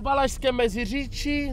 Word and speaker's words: Valašské Meziříčí: Right now we are actually going to Valašské Meziříčí, that's how you should pronounce it as well.